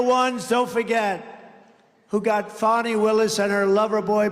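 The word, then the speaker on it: Fani: been destroyed because of fonnie f a n i fny you have to pronounce it fonnie it's called Fanny you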